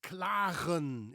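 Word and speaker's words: klagen: words and names the way a Dutchman would pronounce them, namely me. The word I'd like to talk about today is claren. It's the national sport of the Dutch claren.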